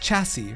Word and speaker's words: chassis: It's pronounced chassis, rhymes with classy.